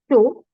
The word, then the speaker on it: chaud: So when your D, P, T, S, and even X are at the end of the word, don't pronounce it. It's silent. So grand, chaud, fro, petit, frais.